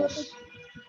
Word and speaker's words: molecules: মলিকিউলস, উচ্চারণটা হবে স্যার এটা মলিকিউলস।